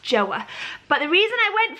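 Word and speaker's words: Joie: It looks like it's pronounced Joey. The lady in Mother Care actually said no, it's pronounced Joa.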